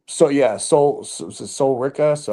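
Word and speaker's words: Sol Ruca: So yeah, Soul Rika. So how you say it? Ruka, yeah.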